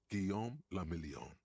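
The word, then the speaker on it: Guillaume Le Million: Guillaume la Million. I forgot the story is vaguely French. If it doesn't rhyme, you're not pronouncing it right.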